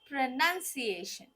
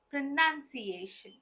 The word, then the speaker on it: pronunciation: different pronunciation but what is the correct pronunciation it's pronunciation pronunciation let's see the next just one suit right